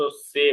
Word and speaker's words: Z: মানে জেড কে মূলত সে বলে, সে সে বলা, হ্যাঁ হ্যাঁ। উচ্চারণকারে সে।